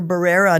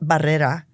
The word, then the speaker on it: Barrera: And every class that I ever was in, teachers had us pronounce our names differently. So you grow up thinking you're Barrera, not Barrera.